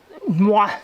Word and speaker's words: Noir: It's Noir, they spell it N-O-I-R, and someone told me it was French, and basically that's what they told me, how to pronounce it.